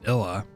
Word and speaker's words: Ilya: Oh, definitely looks like an L. Illa. Oh, is it Illa? Oh, it's just Illa. Correct.